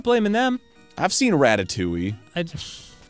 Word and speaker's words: Ratatouille: blaming them I've seen Ratatouille I it's pronounced rat to TW I'm just saying man